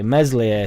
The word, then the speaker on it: Meslier: Meslier, silent S, will get us out of the Championship, and he will be our Premier League goalkeeper for at least a season.